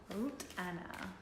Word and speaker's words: Ruth Anna: Ruth Anna. Is it okay that I call you that? I know that's how it's pronounced in your native tongue.